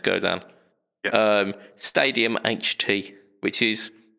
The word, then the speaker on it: Godin: It's spelt Godin, but it's apparently pronounced Godin.